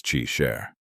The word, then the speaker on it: Qi Shi: Qi Shi is pronounced as Qi Sher.